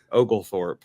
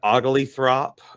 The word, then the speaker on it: Oglethorpe: you pronounce that again ogal Thorp I just say Ogle and then Thorp afterwards yeah it doesn't seem like it'd be that hard for people to pronounce you know said ugly throp ogul forp uh just some of